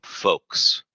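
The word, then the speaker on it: Folx: Folex. How do you even say that? Pronounce that. Hold on. Folks. It's pronounced the same way.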